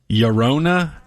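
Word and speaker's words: Llorona: a band called Lona Yona when has two LLS in the front of it like that's Yano estado right so this is l l o r o n a Yona Ms nobody speaks Spanish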